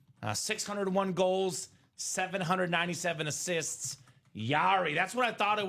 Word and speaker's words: Jari: Yari as it Yari, but it's spelled J A R I.